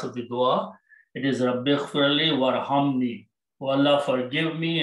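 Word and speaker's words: رَبِّ اغْفِرْ: When you read together, Rabbighfir, you don't pronounce this one. There's a vowel in between. So you don't pronounce this alif. Warham. Rabbighfir, oh my Lord, forgive.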